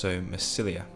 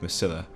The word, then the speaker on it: Massilia: I really do enjoy playing with Epirus actually, so I'm really swaying towards playing with Massilia, or Massilia, I think you pronounce it Massilia.